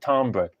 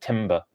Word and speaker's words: timbre: Do you pronounce it timbre? You certainly don't pronounce it timber, right?